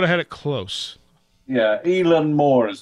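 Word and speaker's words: Eilean Mòr: Keepers I would have had it close yeah elen Moore is how it's pronounced in Scotland okay and this is uh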